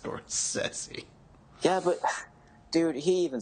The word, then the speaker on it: Scorsese: It's pronounced Scorsese.